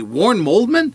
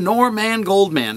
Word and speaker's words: Norman Goldman: own name right so they would say waren moldman and this kept happening and I kept saying no not Warren moldman nor man Goldman and they would laugh